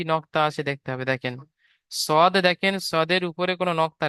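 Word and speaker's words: ص: তারপরে দেখেন এই যে অক্ষরটি দেখতে পাচ্ছেন এটাকে পড়তে হবে সদ, সদ। মুখ গোল করে পড়তে হবে, কেন বলেন তো? এখানে স্টার চিহ্ন আছে, আপনাদের বলে দিয়েছে আগে, আপনাদের যেখানে আছে স্টার চিহ্ন আছে, এই জন্য এই অক্ষরটি উচ্চারণ করার সময় মুখ গোল হয়ে যাবে, পুরো অক্ষর বলা হয়। যেমন সদ, একটু বেশি করে টান দিতে হবে, কারণ তিন লেখা রয়েছে, তিন আলিফ টান হবে, সদ।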